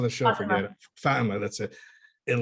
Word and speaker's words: Fatima: Is that how it's pronounced on the show? I forget it. Fatima, that's it.